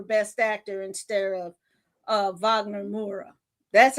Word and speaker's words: Wagner Moura: Russell Crowe for best actor instead of uh Wagner Moura.